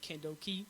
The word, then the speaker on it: Kendoki: I pronounce it at Kendoki. Yeah. Because I wanted to sound, all how do I put it? I wanted to sound like it's got like a jutsu flair towards it.